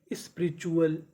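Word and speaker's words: spiritual: SPI स्पी, RI री, स्पी री, TUAL, इसे क्या पढ़ना है, चुअल। तो मीनिंग बनी स्पिरिचुअल, स्पिरिचुअल।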